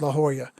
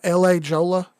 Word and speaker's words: La Jolla: no no no no no pete says it's pronounced la joya i'm going to tell you right now that this is still america and if i want to if i want to call it la jolla then by god it's la jolla la jolla